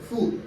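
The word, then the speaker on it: ふ: হবে একই নিয়ম হাি এখানে হু উচ্চারিত না হয়ে উচ্চারিত হবে ফু হাি ফু তাহলে হাি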